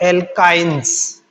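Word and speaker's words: alkynes: में प्लस आएगा और एल्कीन स्पेलिंग को देखिए ANE और ENE और YNE, इससे आपको थोड़ा डिफरेंस साउंड में डिफरेंस है, एल्केन्स, एल्किन्स और एल्काइंस।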